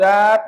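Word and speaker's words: wrap: तो जब कभी भी डब्ल्यू के बाद आर आ जाएगा तो डब्ल्यू का उच्चारण नहीं करेंगे।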